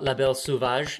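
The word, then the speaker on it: La Belle Sauvage: the type of the book okay yes my pronunciation of uh La Belle suvage yeah okay cool I'm I'm glad thank you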